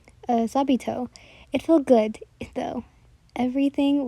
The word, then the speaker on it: Sabito: sister are Sabi I always always say his name wrong uh sabito it felt good though everything was good and